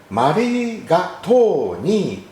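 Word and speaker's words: マリガトーニー: なので日本語で一番英語に近いカタカナ発音はマリガトーニーとなります。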